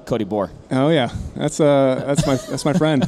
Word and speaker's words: Bohr: It's Cody Bohr. Oh yeah, that's my friend who works at GOHUNT. So did I say his name right? Yeah, Cody Bohr.